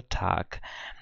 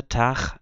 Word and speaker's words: Tag: do começo do vídeo G em final de palavra que se não for iG né é lido como se como se fosse um k então a pronúncia padrão é tac eh essa pronúncia tar é uma pronúncia Regional